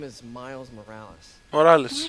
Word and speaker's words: Morales: Morales. Άντε, επιτέλους, μάθαμε πώς προφέρεται επίσημα.